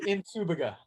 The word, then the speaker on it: Nsubuga: Nsubuga, right? It's actually Nsubuga.